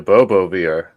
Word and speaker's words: Bobo VR: Yeah, the Bobo VR.